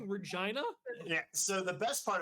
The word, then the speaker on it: Regina: Saturday, Say vagina. in Regina, Saskatchewan. Vagina, Saskatchewan. It's Regina. Fuck off.